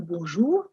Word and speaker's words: bonjour: I know looking at the double e you would be wanting to say, but actually it's journey as if there were n a y like day. you it's it's pronounced similarly jour and it means good day.